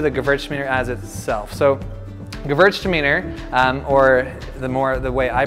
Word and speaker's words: Gewürztraminer: So Gewürztraminer, or the way I pronounce it at least, I've been corrected as pronouncing it Gewürztraminer.